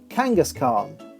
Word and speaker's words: Kangaskhan: who replace that second t with a d Kangaskhan just where or where does that H go